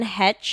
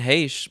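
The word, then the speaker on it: Heche: We also had Anne Hetch. Is that how you say her name? And Heish, Heish.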